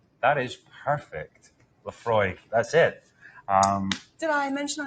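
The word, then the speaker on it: Laphroaig: Lafroig. That is perfect. Lafroig.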